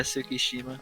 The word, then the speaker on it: Tsukishima: Yeah, Tsukishima.